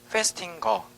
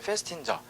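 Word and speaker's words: Festinger: 페스팅거 아니면 페스틴저. 그러니까 책에 따라서 페스팅거라고 읽어도 되고 페스틴저라고 읽어도 상관없어요. 페스팅거, 페스팅저 꼭 강조해 주세요.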